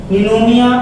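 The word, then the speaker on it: pneumonia: यानी कि pleuro, निमोनिया, इसे भी मत बोलना पी साइलेंट होती है। जैसे निमोनिया का बैक्टीरिया देखा आपने, उसमें पी साइलेंट होती है, वैसे इसमें P silent, P the silent है ये।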